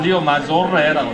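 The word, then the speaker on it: Riomaggiore: 리오 마조레. 맞죠. 네. 이태리 발음은 리오 마조레라고 있습니다. 네.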